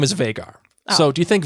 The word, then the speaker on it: Vhagar: And the dragon's name is Vhagar. Oh. So do you think Vhagar? No, we call that Vhagar. Yeah, Vhagar. You got to say it right.